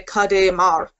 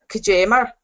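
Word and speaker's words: Cad é mar: So that's like how I would pronounce it in my dialect. I would say Kade Mar, whereas in Ulster you would say Kajemar.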